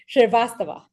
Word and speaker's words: Shrivastava: Shrivastava. Yes, absolutely. Terrific. I take a lot of pride in pronouncing folks' names correctly.